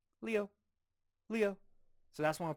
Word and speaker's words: 六: 六 Leo, Leo. So for me, I think of leaves, leaves, right? Leo, leaves.